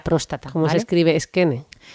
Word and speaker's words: Skene: se escribe Skene? Skene, S-K-E-N-E, Skene.